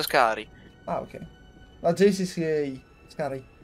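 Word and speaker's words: Skaarj: Scari. Si pronuncia Scari.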